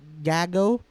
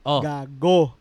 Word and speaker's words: gago: said g ha gag Gago no that's not how you pronounce it you pronounce it hard and we don't pronounce